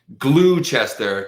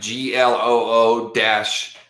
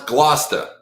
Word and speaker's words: Gloucester: Like if you think it's Gloucester, type GLOO-CHESTER, whatever. You know what I mean? That's not how you say it, by the way.